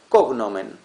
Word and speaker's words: cognomen: Viene el cognomen, o sea, cognomen lo lo pronuncio como la palabra esdújula, pero es grave.